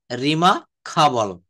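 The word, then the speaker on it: remarkable: তারপর বলছে রিমার্কেবল, এটা কি হবে? রিমা খাবল, রিমা খাবল।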